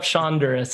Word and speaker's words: Shonduras: anywhere on the internet just look up shonduras it's spelled like Honduras the country with a s in front um I went to